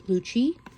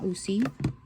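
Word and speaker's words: Lucchi: tarot by Gian Luchi I did pronounce the last name wrong in my unboxing and I know now it is Luchi not luuy or luky Luchi okay so oh no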